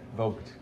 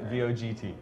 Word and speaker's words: Vogt: Vogt. Vogt? Yeah. I've Like never the spell it. Like VOGT, like the magazine Vogue. Vogue. With the T at the end. Vogt.